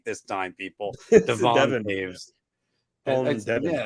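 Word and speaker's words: Toews: Devon Taves.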